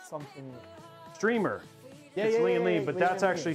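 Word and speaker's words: Strimer: So, it's like even though it's spelled S T R I M E R, it's actually pronounced streamer.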